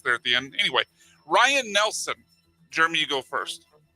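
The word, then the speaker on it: Ryne: No, I will tell you Ryan is spelled R Y N E. I assume that's Ryan.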